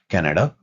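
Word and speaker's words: Canada: कनाडा, तो इट्स वन of those examples जहां पे एक से ज्यादा प्रोनाउंसिएशन हो सकते हैं किसी लफ्ज के, और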